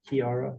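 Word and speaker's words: Kearah: K-E-A-R-A-H, Kiara, or with K-E-A-R-H, and the last one, Richardson, McDougal.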